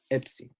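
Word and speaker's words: Ⲯⲓ: It's spelled E, epsilon, iota, and it sounds like a ps, ps sound, Ipsi.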